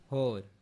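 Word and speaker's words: hour: एक हाथी, एन होर। एक घंटा, अरे यहाँ पर एच साइलेंट है, ठीक है।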